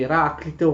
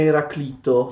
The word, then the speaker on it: Eraclito: Eraclito a volte viene pronunciato anche come Eraclito, non è sbagliato, anzi forse si dovrebbe proprio pronunciare Eraclito, perché noi generalmente pronunciamo i nomi greci secondo un accento latino e in latino si dice Heraclitus, cioè quella I in latino è lunga, quindi sarebbe più corretto pronunciarlo Eraclito, però l'uso ci spinge a pronunciarlo come Eraclito, perché questa, diciamo, è la forma più comune.